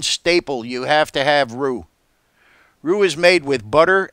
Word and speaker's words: roux: video on roux on thickening gravy with roo-roo is spelled ro UX and it is definitely a kitchen staple you have to have rue rue is made with butter and flour or